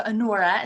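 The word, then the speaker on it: Anura: So Anora is how it's pronounced.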